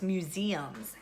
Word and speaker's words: museums: It's actually the second syllable that has the long the E sound, and that's the accent. We say museums. So we're not accenting that first syllable that has the long U sound.